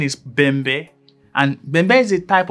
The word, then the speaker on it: Bembe: some people also refer to it as the bimbi pattern actually the correct pronunciation is bambe and member is a type of african drum